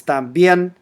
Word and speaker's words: también: So the stressed syllable here is también, and you can listen to the word pronounced by tapping on that speaker.